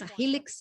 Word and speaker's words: Helix: padrões moleculares filme que nós chamamos de helix ele é o nosso produto e pronúncia em inglês rilix Elite nós temos três